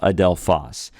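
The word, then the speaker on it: ἀδελφός: or like this but the accent just means to stress that syllable adelfas it means brother and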